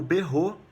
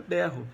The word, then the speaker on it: berro: E aí no berro, todas as crianças falam o berro que o gato deu, só que a palavra é berro. A sílaba tônica de berro é a primeira.